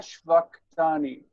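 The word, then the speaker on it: שְׁבַקְתַּנִי: Eli Eli lama shvaktani. Shvaktani. That's Yep. how it's said. There's no doubt.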